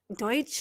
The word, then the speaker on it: Deutsch: think it was uh Linda Deutsch is that how you say her name deut yeah yeah yeah she was saying